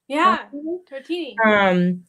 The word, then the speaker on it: Tartini: Tartini.